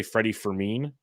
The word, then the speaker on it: Freddie Fermin: wise after this, is tell me how to pronounce. I say Freddie Fermin is how I pronounce it.